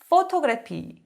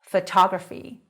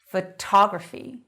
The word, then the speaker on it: photography: photography. 이름절이 아니라 이음절에 와요. photography. photography.